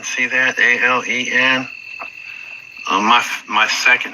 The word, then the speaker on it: Alan: A L E N.